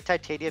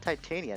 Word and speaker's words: Titania: I'm gonna say Titania because of how the word is pronounced back in Star Fox 64.